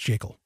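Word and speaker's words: Jekyll: for a good reason it's the creature from jakel island yes it's pronounced jiggle and in that book g ever griffin clearly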